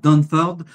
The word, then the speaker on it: Dunford: On parle de Thomas Donford. Euh je le prononce à la française puisqu'il est français même s'il a un nom anglais, n'est-ce pas Mathieu ?